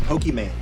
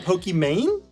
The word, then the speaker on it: Pokimane: It's meant to be Pokémon like the game Pokémon, but I totally understand it reads as Pokimane.